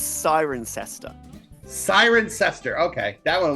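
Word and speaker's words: Cirencester: like half the word half the letters in the middle are not pronounced I'm going to say CER oh Chris you call it's siren sester siren sester okay that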